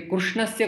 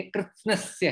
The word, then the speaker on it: कृत्स्नस्य: हे अर्जुन कृत्स्नस्य जगतः ये कृष्णस्य कुछ लोग बोलते हैं कभी कभी गलत उच्चारण कहते हैं ये कृष्ण नहीं ये कृत्स्नस्य है कृत्स्नस्य का अर्थ होता